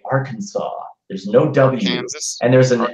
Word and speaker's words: Arkansas: really weird to me is when people say Arkansas there's no and there's an SST end it's